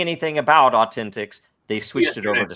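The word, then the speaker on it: AU10TIX: uh uh how do you pronounce it it's pronounced uh Authentics Authentics uh is an Israeli company that was doing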